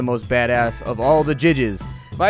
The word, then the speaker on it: Jydge: little indie game called judge they call it judge but i'm calling it jij because that's how it's spelled anyways we have electrocuted